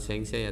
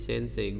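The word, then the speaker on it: 先生: contoh seng Saint Seiya bacanya bukan seng saya tapi Sensei guru kemudian sengget sih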